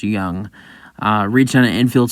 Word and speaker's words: Jung: think it's young it's it's j-u-n-g but I think it's pronounced young uh reached on an